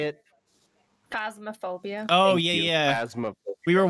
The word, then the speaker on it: Phasmophobia: Phasmophobia.